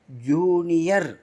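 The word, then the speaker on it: junior: வருது ஓரைன்னா நட்சத்திர கூட்டம் ஜூனியர் ஜூனியர் ஜே யூ ஜூ நிக்கு என் யாவுக்கு என்ன வருது ஓ வருது பாத்தீங்களா ர் ஆர் ஜூனியர்னா இளையவர் வயலின் அந்த நடுவுல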